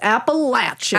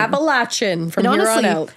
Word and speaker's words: Appalachian: Zeta oh hell yeah just say it correctly folks Appalachian Appalachian it feels right it feels better finally this story is